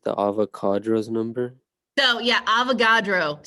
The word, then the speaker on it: Avogadro: So yeah, Avogadro. So the way I talk, it's not avocado, but it sounds a lot like it. It's not avocado, it's Avogadro. So then instead of the